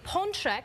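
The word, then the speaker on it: pączek: popular treat is this the ponek which is singular or if there's more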